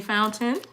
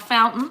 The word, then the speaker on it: Fountain: If she's not yet, Brittany Fountain. Not fountain, but fountain. Pronounce the T's. Pronounce the T's. The T's are not silent, okay?